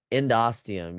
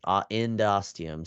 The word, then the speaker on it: endosteum: is known as the endosteum. So remember, I talked about ENDO as like into or in something. So endosteum, you can see ENDOSTEUM, steum, like endosteum. So that's how I say it, but it doesn't really matter how you pronounce it.